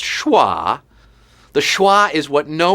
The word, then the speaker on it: schwa: Pronounced schwa.